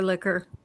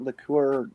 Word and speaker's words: liqueur: It's too early in the morning for liquor. Except And why do we pronounce it liqueur versus liquor? Well, because when you pronounce it liquor, they think you're talking about oral sex.